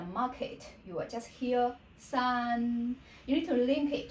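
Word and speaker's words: 四: How we say number two? R. Number four is the same tone we pronounce as S. S. Your voice drop from very high to very low.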